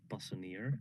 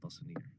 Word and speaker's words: Passanier: Actually, my last name is pronounced Passanier in a very Dutch and direct way. So my full name is Passanier.